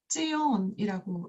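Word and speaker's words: ציון: 알고 있는 것이 있습니다 바로 시온인 히브리어로는 지온이라고 읽 입니다 그다음 19번째 알파벳입니다 프라는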